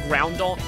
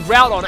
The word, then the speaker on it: Groudon: I used to pronounce it Groundon. That's why I should focus on getting rid of the Groudon, and also that was probably a Quick Claw, unless...